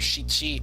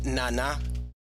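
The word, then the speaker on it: 七: And as you say, uh, Gecko, uh, four and seven have two different readings. For four, we have Yon or Shei. With seven, it's either Shi or Nana.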